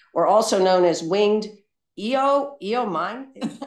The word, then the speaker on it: euonymus: like, burning bush, or also known as winged eomine. How do you say euonymus?